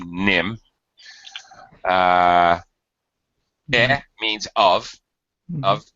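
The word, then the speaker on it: Nîmes: it looks in English like nmes but it's pronounced Nim uh means of of nim is actually the name denim uh yes that's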